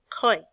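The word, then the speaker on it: ຂ້ອຍ: know this sound and remember again when yaw is at the end of a syllable or at the end of a word it can be pronounced as a y so what word is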